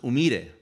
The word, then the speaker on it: Humire: It comes from Peru, and it's pronounced Humire. But if you could get a sergeant major of the Marine Corps to say Humire, you're a better Marine than me. So it ended up turning into Humire in the Marine Corps,